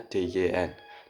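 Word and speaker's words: دين: Perkataan din berasal dari kata din, yaitu bacanya dyn dalam bahasa Arab, yang memiliki banyak pemaknaan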